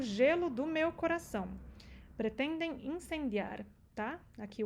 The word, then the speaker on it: corazón: Coração, já falamos. Coração, sílaba tônica no O. Por isso que tem acento, não é que seja coração. Não, é coração, tá?